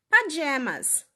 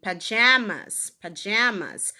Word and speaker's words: pajamas: aqui na região azul, eles vão pronunciar pajamas. Pajamas. Olha o jam. Deixa eu ir com a setinha aqui, ó. Jam de geleia, jam, pajamas. Agora, nessa região em vermelho, não. A gente pronuncia pajamas. É diferente.